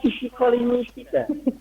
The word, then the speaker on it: psikolinguistik: Jadi P-nya ditipiskan, ya Bu. P-nya ditipiskan atau tidak diucapkan sama sekali.